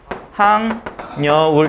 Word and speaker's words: 학여울: 자, 그 다음에 학여울은? 항여울. 이렇게 써야 되죠?